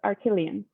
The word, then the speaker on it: Arakelian: It's Armenian. You can blame my husband. All of the A's and most of the vowels are actually silent. So it's Arakelian. Crazy. Arakelian.